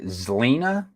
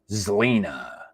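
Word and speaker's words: Xlina: i n a so pretty sure be pronounced like like xena warrior princess this would be zlina zelena's move to portland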